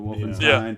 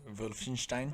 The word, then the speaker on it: Wolfenstein: W's, or do they pronounce it like a V?